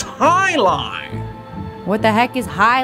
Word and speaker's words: jai alai: heck is jai alai it's pronounced Highline what the heck is